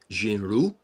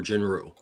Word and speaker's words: Jin-Roh: It's actually a play on a term Jin-Roh, which means werewolf. So Jin-Roh or Jin-Roh.